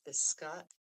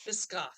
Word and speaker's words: Biscoff: And I like the biscott. I don't even know how to pronounce it, but it is so I think biscoff. Yes. Yes, that's it.